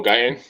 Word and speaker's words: Guyton: Gutton, is that how you pronounce his name? Oh, Guyton?